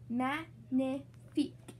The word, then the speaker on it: magnifique: You say it like this, magnifique.